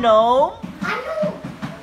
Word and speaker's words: gnome: silent letter G no the word is no silent letter G listen to the sentence the sentence is the garden gnome yard G letter G goat gome the